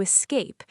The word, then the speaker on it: escape: The stress is on cape.